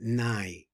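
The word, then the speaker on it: נה״י: Okay, pronounce this nai. Nai? Yeah, nai.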